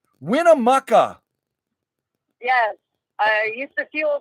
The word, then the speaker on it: Winnemucca: everybody hey uh Christine from Canada uh it's pronounced Winnemucca Winnemucca yes I used to feel there lots of